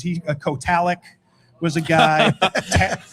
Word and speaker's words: Kotalik: It's not Kotalik, it's Kotalik.